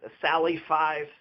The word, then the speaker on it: Salafi: Don't get Sufis mixed up with Salafis, Salafis. So Salafis is the people that would kill Sufi. So Salafi, 3 syllables, Sufi, 2 syllables.